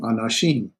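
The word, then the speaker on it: אנשים: We have the the aleph with no sound. We have remember, guttural will not take a shavah, but we'll take a hatep vowel. So this is a hatep parak. And so this is na, shim, anashim. So ish, man, anashim, men.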